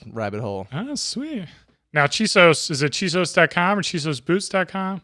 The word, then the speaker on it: Chisos: me here in austin texas little roman with chisos addy hattie is it did i say it right that's close i like it she sews boots i like the mountains out in west